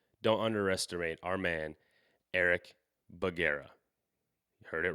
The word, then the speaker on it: Bugera: of butchered but uh the last name is baguera so basically hyphenated take it take it make it two words bug and era and there you go there we go not